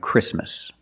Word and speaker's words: Christmas: If you link the sounds, do not pronounce the T. Examples, exactly and Christmas.